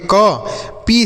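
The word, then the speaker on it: keep: मात्रा ये हो गया फीड के से पढ़ेंगे क पी से पढ़ेंगे प डबल ई का उच्चारण बड़ी ई की मात्रा है तो इसे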